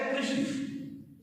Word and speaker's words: कृषि: यदि आप जिह्वा के अग्रभाग को मूर्धा पर नहीं लाए तो इसका उच्चारण गलत होगा। ऐसे कृषि, कृषि, दोष, ये जब तक मूर्धा पर आप नहीं लाएंगे तब तक ये सही नहीं होगा।